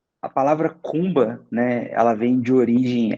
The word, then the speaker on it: Kuumba: pra gente legal cara assim é a palavra cumba né ela vem de origem africana né que